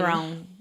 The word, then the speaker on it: Theron: How do you say her name? Therone. That's how I say it.